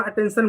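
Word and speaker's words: attention: इसको हम अटेंशन पढ़ते हैं। अटेंशन क्यों पढ़ते हैं? क्योंकि यहां पर आप देख सकते हैं टी के बाद जो है यहां पर टी के बाद जो है टी आई ओ एन आया।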